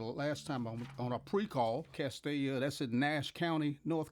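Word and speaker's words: Castalia: Let me make sure I pronounce this right, 'cause I know the last time on a pre-call, Castilla.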